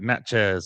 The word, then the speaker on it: Natchez: Uh that's Nat Chat. That's right, Nat Chat.